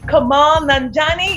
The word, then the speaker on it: Kumail Nanjiani: Kumail Nanjiani.